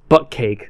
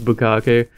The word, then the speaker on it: bukkake: friend of mine, and I originally called it butt cake. Butt cake? And he was laughing at me because I was pronouncing it wrong. I was like, oh, I didn't know it was bukkake.